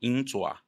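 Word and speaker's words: 鹰爪: Garra de águia, então a pronúncia em chinês a gente chama de Yin Zua. Yin, águia, Zua, garra.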